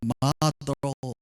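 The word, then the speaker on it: martyr: 이 순교자라는 단어가 그냥 발음 기억 그대로 제가 읽으면 마르티어인데, 이제 영어권에서는 그냥 마더로 이렇게 이렇게 부르긴 합니다.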